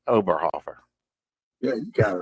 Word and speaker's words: Oberhofer: I know I didn't get that exactly right oberhofer yeah you got it right Sam well that's